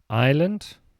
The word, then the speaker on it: island: i p t indeed island island i s l a n d the S is silent I know right um